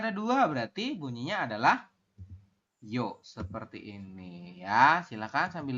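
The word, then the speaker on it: ㅕ: ke kiri nanti jadinya tulisan Latinnya itu Yeo tapi kita Bacanya adalah yo oke yo yo bisa ya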